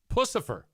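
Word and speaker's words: Puscifer: So now it'll be perfect coming out of my mouth because I know what it's pronounced. Pucifer. If you suggest a song for me to play on Q100, if Pucifer has a cover of a song and it's good, I'll play it.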